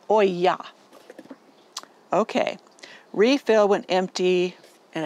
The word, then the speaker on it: olla: amount of water to your plants as needed pronounced Oya okay refill when empty and it has in